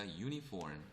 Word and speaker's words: uniform: 그래서 그렇게 보시고 자 u라고 하는 발음도 여러분들 우가 아니라 u로 나면 그죠? 어라고 써야 돼요. 얘는 uniform이 아니라 uniform 그죠?